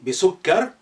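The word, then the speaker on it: بِسُكَّر: So you have your shadda there. Bisukkar. Rather than bisukkari. That's the complete pronunciation. But at the end, you know, try to just stop with imaginary sukoon.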